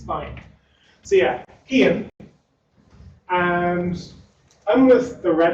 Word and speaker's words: Cian: So my name is Cian. I'm a software engineer at Red Hat. Not Cian, not Cian, not Cyan.